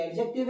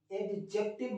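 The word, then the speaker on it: adjective: ये नाम है ये एडजेक्टिव है ये एडवर्ब है तो सर ये एडजेक्टिव सिक्स है यदि एक्टिव मत बोलना सर यहां पर दी साइलेंट है एडजेक्टिव क्या तो ये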